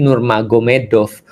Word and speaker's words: Nurmagomedov: Jadi tulisnya Magomet tapi bacanya Mahomed kan gitu kan ya. Jadi Nur Magomedov itu jadi Nur Maomed.